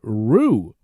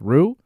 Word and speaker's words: Roux: their new baby daughter roo this week r-o-u-x i think it's pronounced rue that's their daughter that